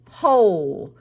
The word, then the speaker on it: whole: one this word is whole the o in this word says its name because the e at the end is silent so we blend this